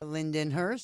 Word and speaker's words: Lindenhurst: Patty, you're originally from Lyndhurst, Long Island. Is that correct? Lindenhurst, yes. Lindenhurst. Man, I said it wrong again. Again. She corrected me before. She said Lyndhurst is in New New Jersey, and she's not no Jersey girl.